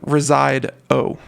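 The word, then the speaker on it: Resideo: smart home uh abode residio residio okay uh obvious like reside oh i i guess would be the proper way to say it ring scout alarm and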